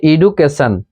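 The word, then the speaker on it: education: টি আই ও এন টি আই ও এন এরকম উচ্চারণ আমরা দেখতে পেলে সন পড়বো আমরা আগে টি ওন পড়বো না এটা কি পড়বো সন যেমন এডুকেশন তারপরে এস টি আই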